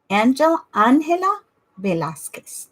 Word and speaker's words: Angela Velasquez: Angela Velasquez. That is how it's pronounced.